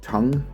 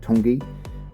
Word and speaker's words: Tongue: we thought was called Tong, which gave uh gives a lot of amusement to tourists alike. They actually pronounce it Tongi.